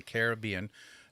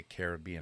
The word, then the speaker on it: Caribbean: And here's a pet peeve of mine when I say Caribbean. It's not Caribbean like Americans say. It's the place is Caribbean. People from the Caribbean or Caribbean. That's the difference.